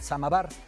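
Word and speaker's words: самовар: rusa puede faltar el samovar pronunciado en ruso el sama bar se traduce como auto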